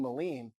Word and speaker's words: Melin: branded myself as Mean Melin because I never wanted anybody to mispronounce my last name again. And I thought if it's called Mean Melin, it rhymes.